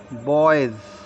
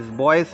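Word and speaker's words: boys: उच्चारण होते हैं जैसे बी ओ बाई एस बॉयज बॉयज बॉयस नहीं कहेंगे बॉयस नहीं बोलेंगे बॉयज जा बोलेंगे इसको एच ई आर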